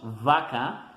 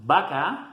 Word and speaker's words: vaca: We should pronounce it like V, like in English, in Spanish, vaca, but that is not the case. Most of the time we just say vaca, and there is no problem.